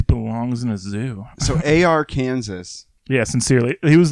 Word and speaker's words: Arkansas: Happy AR Kansas. AR. It sounds like a mix of like AR-15 and Kansas. AK-47 and Kansas.